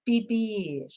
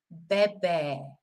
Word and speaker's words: beber: You know, if you say bibir, because people are thinking, of course, in English it's an E, so you say biber. No, because in Spanish it's an E, beber, beber.